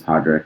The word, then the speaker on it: Padraic: um because, you know, my name is Podrick, but my parents pronounced it Pedrich, which is an extremely um eccentric and I think maybe unique pronunciation of it, which is just